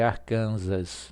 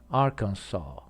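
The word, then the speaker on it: Arkansas: Arca essa palavra confunde as pessoas vão ler arcansas não é pronunciada assim arkans demais botle botle botle floating eu posso dizer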